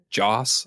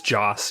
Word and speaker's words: Joss: How do you say his name? Joss. It's Joss, yeah.